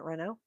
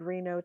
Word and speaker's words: Reno: including Attorney General Janet Renault. Reno. Reno, right? It's Reno, not Reno. Okay, I said her name wrong.